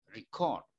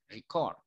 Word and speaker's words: record: Bacanya record, yang ditekan chord-nya, record.